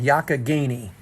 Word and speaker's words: Youghiogheny: It's called Yakagini. And it only took me about a couple of years to learn how to spell that.